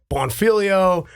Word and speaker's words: Bonfiglio: nickname and because of my last name, Bonfilio. Not a lot of people can pronounce that. Plus, it's spelled Bonfiglio.